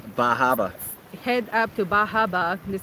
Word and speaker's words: Bar Harbor: It's Bar Harbor, but I need to pronounce it well. Bahaba.